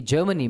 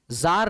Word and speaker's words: Tsar: और आप देख सकते हैं एविडेंसेस कि जर्मनी में, ब्रिटेन में, फ्रांस में इस तरह की